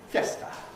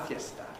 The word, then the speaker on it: fiesta: In Spanish it's pronounced fiesta, una fiesta. Okay? How many syllables in Spanish? 2. When we borrow this word into English, how many syllables does it have? 3. Fiesta. We pronounce it fiesta. Fiesta. Why don't we call it fiesta? Since that's what it is in Spanish. Because in English, you can't compress before a strong vowel.